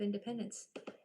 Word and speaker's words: independence: It is so that C can make a soft sound.